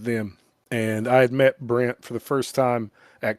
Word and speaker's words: Brent: And Did you just say Brian? Brent.